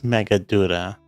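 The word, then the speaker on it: Meghaduta: It is Megaduta. I was almost positive I was pronouncing that wrong.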